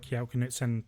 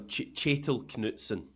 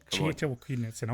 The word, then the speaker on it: Kjetil Knutsen: By the way, just while we're on it, John, Kjetil Knutsen. Come on now. Kjetil Knutsen.